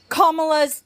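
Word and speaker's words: Kamala: you really pissed me off whenever you said kamla's name wrong it's kamla and you know who you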